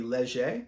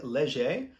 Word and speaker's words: Leger: and if he uh if Wade pronounces his uh last name as the French wood it would be legie so Wade Leger I suppose um and this